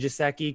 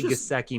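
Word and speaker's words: Gesicki: I've heard it pronounced Gasecki and Gisecki kind of both ways. I got lit up in the chat. I got lit up in the comments this week for saying it wrong. So I'll say Gasecki moving forward.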